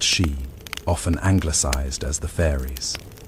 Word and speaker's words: sí: Within this cosmology, there existed a class of beings known as the Aos Sí, or simply the Aes Sí, pronounced Shee, often anglicized as the fairies.